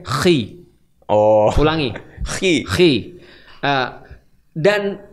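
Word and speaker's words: Χ: X dalam bahasa Yunani bacanya Khi.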